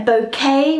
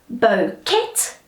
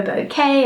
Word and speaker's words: bouquet: all right so it's it's often mispronounced as Bo kit all right not the case we just say oh